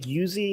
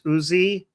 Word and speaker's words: Uzi: But in English is that the same thing like Yuzi is Okay. So in English you call it uzi. Okay. Yeah. First of all, the person in the chat saying it's not yuzi, it's uzi.